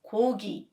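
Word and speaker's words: 고기: similarly kugi is meat you pronounce the first ko as ko and the second gi as gi so it becomes kogi even though it is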